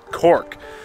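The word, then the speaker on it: Coch: C-O-C-H pronounced Cork.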